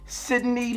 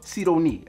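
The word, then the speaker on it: Sidonie: is none other than sydney lancaster okay or c don't need okay depending on how you like to pronounce it but no matter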